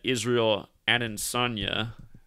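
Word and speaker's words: Israel Adesanya: tonight's fight is that israel and sonia that's how you say his name and he's getting the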